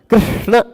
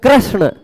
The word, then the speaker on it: कृष्ण: में ऐसा होता है ऋ बोलना है लेकिन र बोल जाते हैं कृष्ण कृष्ण अब इसमें कृष्ण बहुत सारे लोग कृष्ण